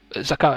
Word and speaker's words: zakat: Zakat, I don't think you don't pronounce the T.